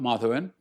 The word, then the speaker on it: Madhava: Madhava, or to pronounce his name as it is done in Malayalam, Madhavan, is not, 30 years